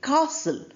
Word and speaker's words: castle: We say castle not castle. T is there but not pronounced.